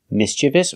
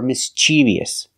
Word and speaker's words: mischievous: don't use this word the adjective is mischievous this word has two pronunciations you'll hear mischievous or mischievous but like I said